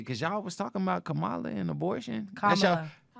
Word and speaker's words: Kamala: Let's talk about legacy, cause y'all was talking about Kamala and abortion.